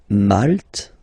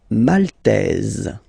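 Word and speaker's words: maltais: So here final s not pronounced for the masculine form and then you pronounce hit here for the feminine form.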